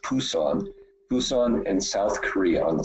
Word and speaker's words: Busan: For example, I'm leaving on Monday to go to, it's pronounced Busan in South Korea, on the southeast tip on the Sea of Japan.